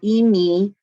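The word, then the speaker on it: אמי: get to the my, so emi versus ami, they're changing vowels. it's also a different different consonant.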